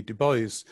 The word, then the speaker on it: Du Bois: Du Bois. That's how Americans pronounce it, and probably how he pronounced it, even though some of us might think that's an odd way to do it.